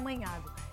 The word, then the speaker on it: Magnago: na tela para você você escreve com a letra g magnago mas se pronuncia manhago e vai lá descubra